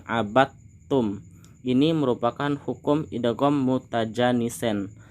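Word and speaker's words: عبدتم: Di sini bacanya tidak abadtum tapi langsung kita masukkan abattum.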